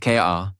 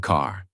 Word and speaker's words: car: Example word car. In American accent you clearly hear the R. Car not ka but car.